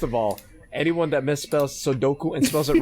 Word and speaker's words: Sudoku: Number one, yeah, it's Sudoku, or pronounced here, Sudoku.